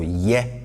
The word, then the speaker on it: ye: And this ye is, pronounced with a higher tone, right? And it's very important. If you bring it down, you'll be saying something different. So ye, to do.